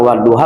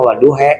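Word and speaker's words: والضحى: Itu nanti di negara lain mah waduha, kita dia mah waduhe gitu. Kalau kita mah waduha kan, karena imam kita Imam Hafiz bacanya waduha.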